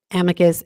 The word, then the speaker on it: amicus: to submit a brief uh in Imus um Amicus amus it's pronounced both ways so amus Amicus uh brief